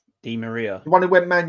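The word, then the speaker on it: Di María: have said some really good ones here, like Dimiera. That wasn't a good one. That went up tits up. Who's that? Dimiera. Who? Dimiera. Is that how you say his name? Di Maria.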